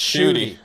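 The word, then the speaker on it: Shough: Tyler, pronounced Shooty. Shooty. I would have never guessed in my life that S-H-U-T-E is Shooty.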